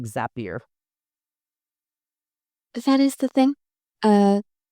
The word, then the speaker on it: Zapier: I pronounce it Zapier, not Zapier. I'd have to look.